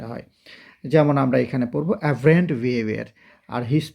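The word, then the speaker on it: aberrant: আমি দিয়েছি খুবই মজার একইভাবে এটার উচ্চারণটা কি এভারেন্ট এভারেন্ট বানানটা দেখতে হবে কিন্তু কারণ একটা ওয়ার্ড শুধু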